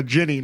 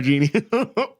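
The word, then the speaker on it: djinn: It's actually a Ginny, not a genie. What? Yep. So they're referred to sometimes as Ginny, not Genie. Huh. Genie is like the weird American mispronunciation It's of the it.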